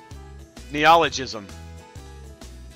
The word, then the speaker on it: neologism: Neologism. It's neologism. You are exactly right. Neologism. That's what my pronunciator said too.